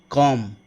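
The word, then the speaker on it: comb: For example man, summer, कॉम। आपको ध्यान में रखना है कि कॉम्ब नहीं बोलना है, दैट इज कॉम। एम बोल के चुप रहना है आपको, बी प्रोनाउंस नहीं करना है।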